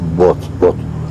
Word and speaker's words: Booth: Se llama John Wilkes Booth, como bote.